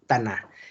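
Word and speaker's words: Tannat: La T en las palabras francesas no se pronuncia cuando está al final. Entonces, la pronunciación es Taná.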